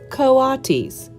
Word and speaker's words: coatis: pigs or raccoony dogs these are coatis Mrs Brisbane said reading from the letter pronounced coatis the coatis looked weird